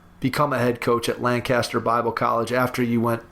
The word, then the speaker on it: Lancaster: head coaching position was how to pronounce the name Lancaster. I said Lancaster in my interview, and I thought I was going to lose the job. The people in Lancaster, Pennsylvania want you to say their city the right way.